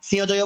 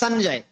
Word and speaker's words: সঞ্জয়: দেখুন কোথায় ছিলাম, তাহলে সঞ্জয়, তাহলে সঞ্জয় হচ্ছে দন্তনা, ইয়কে দন্তনের মতো, যে এখন যে ব্যাখ্যা দিলাম সে দন্তনের মতো উচ্চারণ করবো, আর বর্গীয় জয়কে বর্গীয় জয় মতো। তাহলে আর সিংহজয় বলবো না, আমরা অনেকে সিংহজয় বলি, তবে সঞ্জয়, সঞ্জয়।